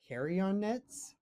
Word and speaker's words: Carrionettes: Carrionnettes? Probably Carrionnettes? rhymes with Carrionettes. marionettes, right? Like Carrionnettes.